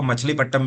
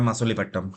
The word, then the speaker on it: मसूलीपट्टम: तो कुछ लोग इसको मछलीपट्टम भी बोल देते हैं, बट इसका जो सही प्रोनाउंसिएशन है वो है मसूलीपट्टम।